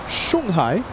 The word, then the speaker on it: Shanghai: Thank you, Kevin, for the pronunciation. Shanghai.